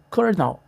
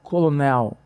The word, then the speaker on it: colonel: Se você seguir a lógica de qualquer língua do mundo, você leria algo como colonel. Mas no inglês a pronúncia oficial é cornal. Não há nenhum R escrito, mas todo mundo fala um R forte.